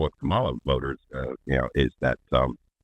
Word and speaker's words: Kamala: or fourth time yeah say her name properly like a Comm that's anything else besides a condescending prick on this serious yeah yeah it's like a comma and a sentence a